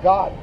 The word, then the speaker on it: Gad: reation nor American G Gad the way you pronounce that is God the word God would